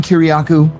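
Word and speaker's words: Kiriakou: My name is John Kuryaku. K I R I A K O U.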